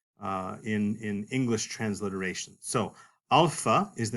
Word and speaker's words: alpha: And the letter alpha in Greek makes the long A sound. This is like the A that you hear in the word father, alpha.